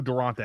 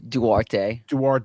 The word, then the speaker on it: Duarte: I don't know who Durante is. Say it again. Duarte is. I think that's how you say it. I hope I'm right now because I corrected you, and I would be embarrassed if that was also wrong. No, you're right. There's no N.